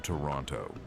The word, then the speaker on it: Toronto: He winces when people pronounce the second T in Toronto.